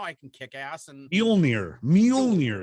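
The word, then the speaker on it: Mjölnir: Now now I can kick ass and Mjolnir is how you say it.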